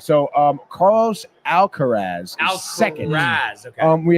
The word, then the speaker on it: Alcaraz: Is it Alcaraz? No. Where's Carlton? I don't know. Wait, how do you say his name again? I always remember. It's not. Alcatraz.